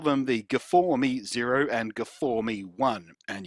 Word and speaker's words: G4ME: So they call them the G4ME Zero and G4ME One. And yes, I'm sure they want us to pronounce the number 4 in the name as an A sound, so it spells game.